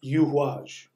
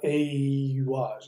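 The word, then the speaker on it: Eihwaz: And here we have Yuhuaj. It's spelled E-I, and people want to call it Eyuaj. It's not.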